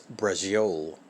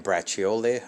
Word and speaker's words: braciole: all right so i actually mispronounced this it's brazil i was saying braciole i don't know what's